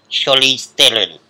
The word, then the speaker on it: Charlize Theron: And, I got told Charlize Theron is the correct pronunciation.